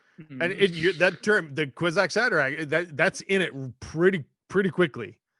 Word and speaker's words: Kwisatz Haderach: Yeah, become the Kwisatz Haderach.